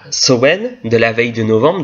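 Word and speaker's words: Samhain: les Celtes appelaient l'été tout simplement et de Sen donc Saim si vous voulez S a m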